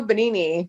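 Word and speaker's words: Benigni: So, 1999 when Roberto Benini, is that how you pronounce that?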